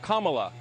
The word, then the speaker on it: Kamala: um hosts on fox her name is pronounced comma like the punctuation mark look kamala okay okay seriously i've